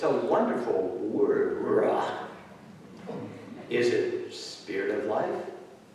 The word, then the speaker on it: ruach: Also in Hebrew, there's that guttural sounding word, ruach.